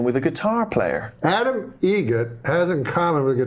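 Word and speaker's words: Eget: How do you say the name? Adam Egget. Egget. Spelt differently. Like the bird. That's Egret. Do you know what Adam Egert has in common with a guitar player?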